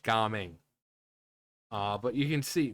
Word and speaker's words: Gaming: Okay, so it is pronounced gaming.